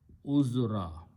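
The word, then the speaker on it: عذرا: So it will be pronounced as uzra. When you stop, you pronounce uzra, but the word is uzran.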